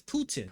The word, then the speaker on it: Putin: How do you pronunciation? Putin. It's Putin.